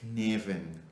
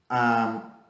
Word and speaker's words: Cynefin: Well, I don't know how to pronounce it right, but because it's a Welsh word, but it's like Cynefin.